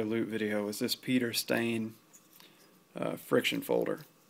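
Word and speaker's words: Steyn: know and he said stain his name is Peter stain like a stain on your shirt um that's coming straight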